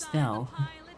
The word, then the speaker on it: Stelle: after all this time it's not pronounced Stella it's pronounced stelle like how in uh zcz it's pronounced Belle instead of Bella so I feel dumb